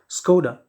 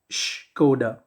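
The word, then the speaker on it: Škoda: written in red as skoda it's not skoda the german pronunciation is shkoda right so it's an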